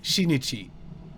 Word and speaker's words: Shinichi: But yeah, also the way they pronounce Shinichi is not exactly right, because apparently they have somehow a ch sound at the start.